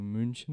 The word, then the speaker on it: München: Como München, el nombre Múnich de la ciudad.